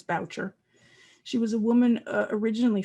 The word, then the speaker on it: Boucher: Genie Castles, and it's pronounced Boucher. It looks like Boucher, but we've been assured by the family that it's Boucher.